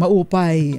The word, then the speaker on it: maupay: Tama daw ang ating pagbigkas ng maupay. Maayos sa Bisaya.